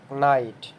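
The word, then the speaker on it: knight: কি উচ্চারণ করছি নলেজ নাইট এখানে আমরা কে এর উচ্চারণ করছি না সরাসরি নাইট উচ্চারণ করছি আরেকটা দেখি নি এখানে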